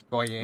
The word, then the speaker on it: goyim: And I can never pronounce the other one. It's like goy Goyim. what The Goyim.